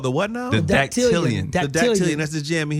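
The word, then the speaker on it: dactylion: okay so the word of the day is datian datian D datian is spelled d a c t y l i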